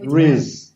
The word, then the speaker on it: Ruiz: Ruiz? Because you said it beautifully. Ruiz.